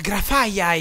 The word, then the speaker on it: Grafaiai: Si chiama Grafaiai. Ah, Grafaiai! Quindi mi sono addentrato nella foresta per trovarne degli altri. Abbiamo sbagliato a pronunciarlo fino ad oggi.